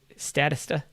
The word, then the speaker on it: Statista: is this is statista statista i believe is how you pronounce it s-t-a-t-i-s-t-a so so this